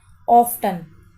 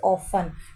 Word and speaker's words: often: Okay, तो कुछ लोग इसे क्या पढ़ते हैं? ऑफ्टन, but this is नॉट ऑफ्टन, this is ऑफन। टी इसमें साइलेंट होता है, तो हमेशा इसे ऑफन पढ़िए।